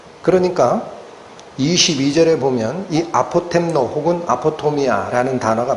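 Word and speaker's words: ἀποτομία: 근데이 엄위라는이 단어 헬라어로 발음이 어떻게 나는 단어냐? 아포토미아라고 나는 단어입니다. 아포토미아.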